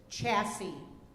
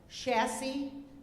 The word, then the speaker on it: chassis: The one I gave you is chassis. The alternates are chassis and chassis.